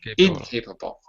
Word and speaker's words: incapable: Capable, incapable. The stress is in the first. Right. Incapable. On the first Incapable. On the first syllable is the stress.